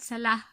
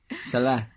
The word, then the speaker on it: Salah: It's like Mohammed Salah. Salah. Yeah, Salah. Yeah. It's like you're some kind of like inner city Cork person. Salah. No, like it's an Arabic letter.